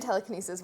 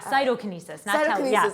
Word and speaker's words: cytokinesis: and the anaphase and telekinesis work together okay yeah cytokinesis oh no no a lot of people say that and i see that a lot so i know what